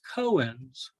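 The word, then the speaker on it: koans: what is called Buddhist cohens I might be mispronouncing that a little bit but I'm not Buddha so that's okay it's Cohen's k-o-a-n-s and what what these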